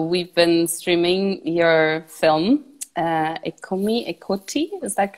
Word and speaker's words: Eccomi, Eccoti: So we've been streaming your film, Eccomi, Eccoti, is that correctly pronounced?